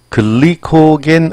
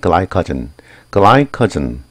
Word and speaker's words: glycogen: 발음 보세요. 글리코겐 아닙니다. 이거 우리 한국식 표현 발음 표현이고요. 영어 발음은 글라이커 따라해 보세요. 글라이커 예이 관계 대명사 쓰였습니다.